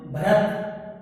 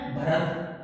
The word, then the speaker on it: भरत: सही उच्चारण है भरत, लेकिन हम क्या करते हैं? भरत।